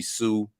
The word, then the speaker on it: Hsu: And then this girl or young woman, Stephanie Hsu. You know what I'm saying? You ain't supposed to pronounce the H in the word.